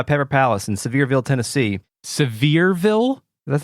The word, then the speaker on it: Sevierville: Palace in Sevierville Tennessee Sevierville that's how you pronounce it right it's not it's not spelled severe Ville yeah wow real place